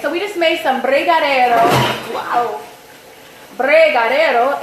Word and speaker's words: brigadeiro: Brigadeiro.